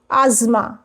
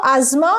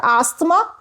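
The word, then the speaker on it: asthma: pronoun which is where the confusion comes from pronunciation interviewer and what about a s t h m a tar asma interviewer so asma not asma Tar.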